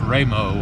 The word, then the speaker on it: Raymond: sorry why mo ND and it's pronounced that away it's pronounced Remo I believe he's up